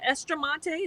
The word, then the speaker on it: Estramonte: So, Dr. Estramonte, is that how I pronounce it? You nailed it.